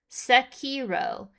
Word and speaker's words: Sekiro: Sekiro is always how I've been told it's pronounced.